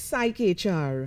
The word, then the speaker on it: PsycHR: magazine how do you pronounce it it's spelt es y CH are its psyche HR psyche oh yes there's